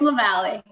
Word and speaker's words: Lavalle: I know we just did a run through of the pronunciation. I don't think I did. Tell me. It's Lavalle.